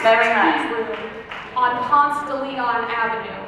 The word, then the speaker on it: Ponce de Leon: Tea Room on Ponce de Leon Avenue. Be sure to pronounce it Ponce de Leon. Okay, Ponce de Leon. Ponce de Leon. Girl, it's just Ponce.